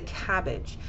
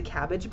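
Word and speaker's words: CABG: example of this is something that we pronounce as a cabbage when somebody is going in for a procedure called a cabbage it's c-a-b-g and we pronounce it as a cabbage but it stands for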